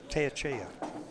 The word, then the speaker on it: Teyechea: It's Teyechea. Wow, it's pronounced as a little bit different. It's spelled.